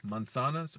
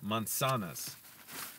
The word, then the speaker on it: manzanas: And by the way, the Z in Spanish, you don't say it like Z in English. You would say it almost like an S, basically, like se. So manzanas. Manzanas, even though the first S sound is a Z.